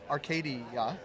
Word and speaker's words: RKDA: talk a bit about I'm going to pronounce it right arcad even though it's rcda that's talk to me about